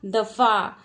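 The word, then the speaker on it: दफ़ा: लेकिन जब इस फ के नीचे बिंदु लग जाएगा तो कैसा उच्चारण होगा, दफा।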